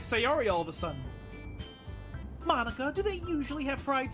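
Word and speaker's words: Monika: Mon-Ika. That's not how you say my name at all. Mon-Ika. Instead of Monica.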